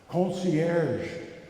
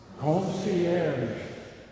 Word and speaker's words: concierge: there, Kathy, were here today to help us pronounce a particular French word. Concierge. Say it with me. Concierge. French, eh? It's so smooth, it's so beautiful. Concierge.